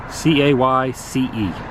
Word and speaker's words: Cayce: C-A-Y-C-E. Cayce? If I'm pronouncing it right.